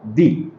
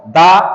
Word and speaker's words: the: letter দিয়ে যদি শুরু হয় তাহলে সেইখানে আমরা উচ্চারণ করব দি আমার মনে হয় বিষয়টা অনেকটাই ক্লিয়ার তাহলে যদি আমরা বলি হি বট দা বুক না দি বুক তাহলে দেখেন যে এইখানে